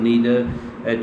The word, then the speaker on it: neither: अच्छा, इसको आप नाइदर नो पढ़ें या नीदर नो पढ़ें। अच्छा, नीदर अमेरिकन इसको नीदर भी प्रोनाउंस करते हैं और ईदर भी करते हैं, और ये इनके दोनों तलफ़्फ़ुज़ हैं, आइदर और ईदर, नाइदर और नीदर।